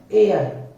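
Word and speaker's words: heir: कर देते हैं और एच ई आई आर का प्रोनंसिएशन होता है एयर एयर एयर का मींस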